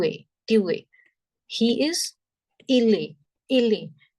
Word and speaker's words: est: Il est. Il est. Here, the last letter T is silent. So that is il est.